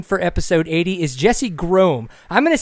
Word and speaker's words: Groemm: to say Gro and I'm going to be corrected very shortly I'm sure um on how we actually pronounce his last name but Mr uh Jesse Gro how is your evening going kind sir it's it's going good um happy to be on the show and uh you pronounced my last name right spot on Boom see we we